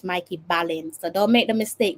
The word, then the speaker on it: Mikey Ballin: Okay, it's pronounced Mikey Ballin.